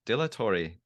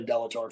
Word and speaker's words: De La Torre: pronouncing your name wrong so it's De la Torre oh yeah did you say galatore yeah most uh 99.9 of the people say Bellator so don't even the